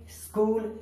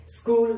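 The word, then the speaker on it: school: अब chemistry, technology, स्कूल, scheme, stomach, mechanic, अब इन सभी में सी के बाद एच आया है, इसलिए वहां पर एच साइलेंट है। स्कूल, स्कूल means स्कूल, scheme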